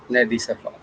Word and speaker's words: Nedi Safa: So, without any further ado, I invite Miss Nedi Safa. Oh, thank you for pronouncing Hello.